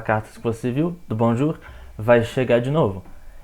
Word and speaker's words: bonjour: E é pronunciada bonjour.